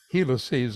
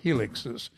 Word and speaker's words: helices: Tonight though, I want to put emphasis though on building small HF tape helices or helixes if you prefer that pronunciation.